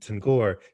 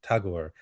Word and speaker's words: Tagore: of chatterjee and and tangor talking about i keep saying her name wrong tagore talking about the process